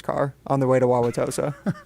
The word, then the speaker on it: Wauwatosa: No, I will be in Tosa. That's what the you guys call it Tosa. You call it Wauwatosa.